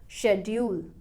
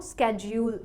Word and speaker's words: schedule: American इस word को स्केड्यूल pronounce करते हैं, स्केड्यूल। अगर आप अमेरिकन प्रोनाउंसिएशन फॉलो करते हैं तो इस वर्ड को प्रोनाउंस करें स्केड्यूल, स्केड्यूल, वरना शेड्यूल।